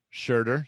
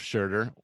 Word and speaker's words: Scherder: i don't butcher it it's a shirt shirter so yes scherder welcome to the podcast